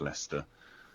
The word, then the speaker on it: Leicester: Leicester isn't spelled Lester like the name Leicester. It's a place in England, Leicester.